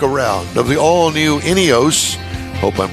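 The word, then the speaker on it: Ineos: I like it all right so did I pronounce it right inos yes inos Grenadier is the name of the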